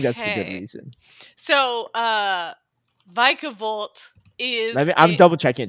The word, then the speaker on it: Vikavolt: It's Vikavolt.